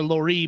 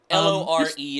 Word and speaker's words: Lore: mark lore mark um i don't know if it's laura laurie but whatever l-o-r-e is how you spell it i think it's mark lore right like folklore um what's really interesting